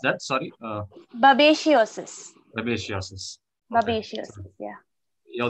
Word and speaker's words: babesiosis: disease, a blood disease, lion blood disease called babesiosis. About 24 lions have died. Yeah. Yeah. How do I pronounce that? Sorry. Babesiosis.